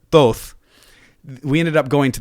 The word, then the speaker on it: Thoth: the todd temple and because of the way that i was pronouncing it toth instead of thoth we ended up going